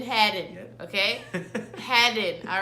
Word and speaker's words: Hadden: to clear the air not Hayden it's headed headed okay had it all